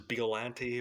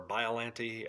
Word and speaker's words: Biollante: Biollante or Biollante. I've heard it pronounced both ways. I like to say Biollante because it's like Bio and it makes me laugh because I'm ridiculous.